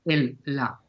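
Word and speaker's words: Él-La: siempre lo nombro como el la O sea el con el acento en la e y con la e mayúscula el o sea e l guion L A mayúscula para hacer referencia a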